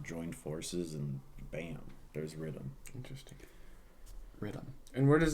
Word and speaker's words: riddim: Well, like the word Riddim is like Jamaican for rhythm. Okay. It's not really like Jamaican. It's just like, how it's pronounced. Like the vernacular. Yeah. Riddim.